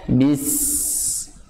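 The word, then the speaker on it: بسم: Harus bacanya bis. Keluarkan dulu bunyi hamasnya. Suara atau aliran udaranya terasanya bagaimana ketika antum menggunakan telapak tangan seperti ini. Bis. Itu. Syarat utamanya dengan sifat hamasnya harus keluar.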